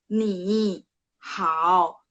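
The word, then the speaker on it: 你好: Kan saya bilang, ketentuannya ketika nada 3 ketemu nada 3, berarti depannya cara bacanya berubah jadi nada 2. Kalau penulisannya tetap sama, 3, 3. Penulisan tetap sama 3, 3. Tapi bacanya ketika baca, ketika praktek, ketika ngomong, nada depan, huruf depannya berubah jadi nada 2. Jadi ni-nya berubah jadi ni hao.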